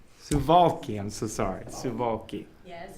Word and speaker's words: Suwałki: in beautiful poland and zuwalski suvalky i'm so sorry yes it's difficult to pronounce i just have to remember the w's are v's okay yes are there